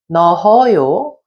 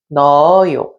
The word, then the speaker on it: 넣어요: The hyut 받침 does not produce any sound, so you have to think that it's not there and just go on to pronounce the next vowel. So, in this example, instead of saying 넣어요, we would say 넣어요. And instead of saying 좋아요, we say 좋아요.